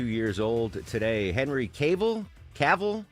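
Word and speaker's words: Cavill: Caval, how do you pronounce that? Uh, Deborah. Henry Caval.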